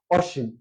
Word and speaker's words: অসীম: যদি আমরা লিখি যদি আমরা আগে বলছি যে নেতিবাচ্য অর্থ দিলে শুরুতে অয় থাকলে সেই শব্দটির উচ্চারণ অয় ওই বজায় থাকবে অর্থাৎ এখানে অশিম অসিম